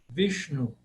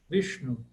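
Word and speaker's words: Viṣṇu: Também esse não tem muita dificuldade, só tomar cuidado para o retroflexo. Vishnu. Vishnu.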